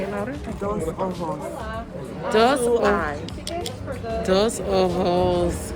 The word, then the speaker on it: Dos Ojos: We are at, I'm gonna let Joy pronounce it. Say it louder. Dos ojos.